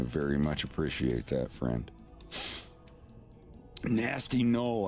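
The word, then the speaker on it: Gnasty: Nasty Knoll. I love how nasty is spelled GN.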